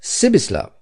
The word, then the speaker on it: Pribislav: He with whom Hans Castorp spoke was called Hip, Pribislav Hip. The peculiarity of this given name was that you were to pronounce it as though it was spelt Sibislav, and the singularity of